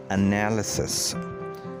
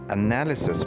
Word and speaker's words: analysis: Analysis, जिसे उर्दू में तज्ज़िया कहते हैं, इसे एनालिसिस नहीं पढ़ना चाहिए, ये है analysis. Analysis means the act of analyzing something, and it should not be pronounced analysis. It is analysis.